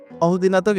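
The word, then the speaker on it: ordinateur: অহদিনাতক এখানে 4টা সিলেবল আছে। অহদিনাতক, অহ একটা, দি একটা, এন একটা, তোখ একটা, টোটাল 4টা এখানে সিলেবল রয়েছে।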